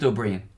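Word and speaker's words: Ó Briain: of jaffa cakes well it's pronounced Aubry Aubry right there I couldn't deidara or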